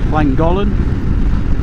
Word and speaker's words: Llangollen: And yeah, we're off to the hotel, Trowbridge Hotel in Llangollen. That's how you pronounce it.